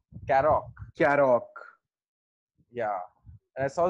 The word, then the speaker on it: Karoq: Since you reviewed the Karoq, how is it pronounced? Karoq.